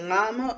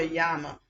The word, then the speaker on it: llama: i pronounce this properly is it pronounced a llama or yama how you pronounce because in spanish two else is yama like my name is stop i hate when you're trying to okay so nano okay so that says yama hold up some people say llama other people say yama let me say the pronunciation well google says llama so um all right